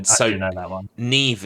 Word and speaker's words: Niamh: Neve is spelled Niamh, so pet peeve.